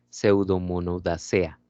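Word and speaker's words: Pseudomonadaceae: Ya no se pronuncia la última E. Entonces sería Pseudomonodacea.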